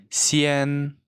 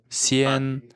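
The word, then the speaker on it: 西安: Да фанн Али Назар Вот это читается как Сиан Сиан Есть такой город Сиан вот сисиан дальше а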